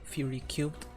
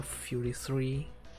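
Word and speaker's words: Fury3: I love that that game's soundtrack, Fury Cubed or Fury 3, depends how you want to pronounce it.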